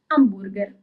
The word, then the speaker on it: hamburger: For example hamburger in Italian is amber. So you actually write it in the very same way but you pronounce it differently because we don't read the letter H.